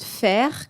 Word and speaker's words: FAIR: Et donc on a nous on est parti sur une autre méthode qui s'appelle la méthode FER que peut-être certains d'entre vous connaissent. Donc faire ça s'écrit F A I R.